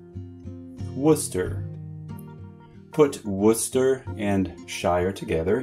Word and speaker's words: Worcester: This part is pronounced Worcester. Worcester.